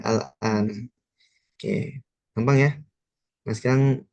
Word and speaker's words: الآن: Nah, tadi bacanya bukan ummuki fil baitil al-ana.